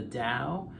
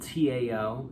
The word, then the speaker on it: Tao: is called the the dao it's spelled t-a-o sometimes um it's pronounced with a d sometimes it's pronounced with a t it's called the tao